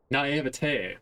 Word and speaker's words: naivete: Naivete, that's how you pronounce that.